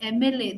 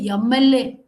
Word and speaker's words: MLA: Many Telugu speakers I have noticed, they won't say MLA, they'll say YMLA.